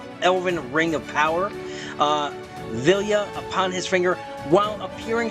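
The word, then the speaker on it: Vilya: here is that ring I know I've been mispronouncing it I've been throwing an end in there but it is villa which also allows him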